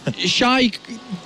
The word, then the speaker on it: XY: Now on stage though, we do have XY or Shy. What's the correct pronunciation? Shy. All right, so Shy.